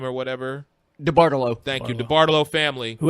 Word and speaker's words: DeBartolo: Jed York and that whole DiBilatella, I don't know how to say the family's name or whatever. DeBartolo.